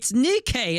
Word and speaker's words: Nikke: sure that Smite did it better, and they pronounced it Nike. It's but it doesn't. It's Nikkei.